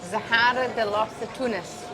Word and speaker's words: Zahara de los Atunes: It's called Zahara de los Atunes. There you go. Perfect pronunciation.